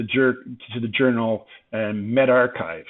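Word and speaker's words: medRxiv: to the journal and med archive how many of you thought that was med archive that's will you pronounce it where that's the are and that's Chi from chi squared test or however you want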